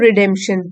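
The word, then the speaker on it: redemption: अब है रिडेम्पशन, P silent है इसमें, रिडेम्पशन, फिर से उद्धार करना, फॉरगिव करना, द एक्ट of making amends, सुधार करना और इम्प्रूविंग वन सेल्फ।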